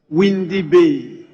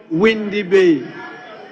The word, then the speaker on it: Winneba: We also have with us the students from the University of Education, Winneba, properly called Windy Bay. Windy Bay. Yes. It's a struggle to pronounce Windy Bay that is now known as Winneba.